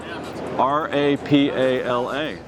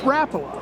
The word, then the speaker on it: Rapala: a little bit different pronounce r a p a l a well growing up up in Arkansas it was Rapala that's right always but now that I work with him it's Rola but really it doesn't really